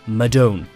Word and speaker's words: Madone: When it comes to its all-round race bike, we've heard Madone and Madone. However, it's pronounced Madone.